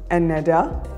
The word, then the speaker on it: Nada: So our name is pronounced Neda. Neda. Neda, because also what we were talking about, the Arabic identity is the purest form of water.